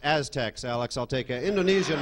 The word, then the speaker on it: Aztecs: Uh, worshiped by the Azex for its fragrant aroma. What is the Sincoa? It's pronounced Aztecs.